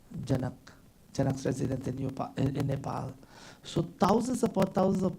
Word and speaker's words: Nepal: installation we all know Nepal not Nepal but Nepal the right pronunciation was part of India